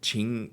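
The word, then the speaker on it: Qing: or platinum make ceramic series uh is it ching ching purple how do you say q-i-n-g so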